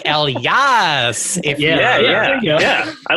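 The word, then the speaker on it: Elyas: who knows it's actually l yes it's like a hell yes but you did the h is silent or like el yas yeah yeah yeah yeah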